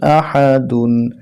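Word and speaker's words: أَحَدٌ: দুই জবর ওয়ান কুফুন হামজা জবর আহা জবর হাহা দাল দুই পেশ দুন আহাদুন ওয়ালাম ইয়াকুল্লাহু কুফুয়ান আহাদ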